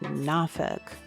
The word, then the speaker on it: Norfolk: I don't live in Nafug. Matter of fact, residents had to teach me to pronounce it. It's spelled N O R F O L K. But I've been instructed to pronounce it Nafuk, though really people from different parts of the